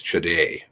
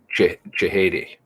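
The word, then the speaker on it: Chehadé: I know the name is Chede. Fadi Chede is his name. Chede, I think is it how it's spelled. Fadi Chede. Is that how it's spelled? Fadi Chehede. Oh, see, my pronunciation. Terrible.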